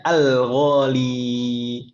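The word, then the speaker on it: الغالي: Jadi ghalin aslinya ghali. Tapi kalau ada al maka kita bacanya al-ghali. Tidak boleh dihapus ya-nya.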